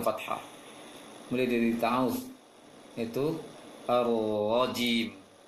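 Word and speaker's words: الرجيم: Mulai dari ta'awudz itu ar-rajim. Ra yang bertasydid ini langsung ditebalkan ketika masuk tasydidnya. Ar-rajim. Wajim. Jangan wajim. Jangan dimanyunkan bibirnya ketika membacanya.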